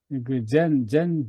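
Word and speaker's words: Zen: 불교 하면은 젠젠 디즘이라 젠 부디즘 젠이 선의 일본어 발음이에요 예 근데 만약에 그 중국의 어떤 그 선불교에 유명한 사람이 그 당시에 일찍 영어권에 가서 소개를 했다면 아마 선불교가 찬 찬 부디즘이라고 알려졌을 거예요이 선점을 한 거죠 한국선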